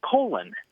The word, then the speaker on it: Colin: entire life um I've grown up hearing my name pronounced colon uh like with an o two o's I guess um but I have never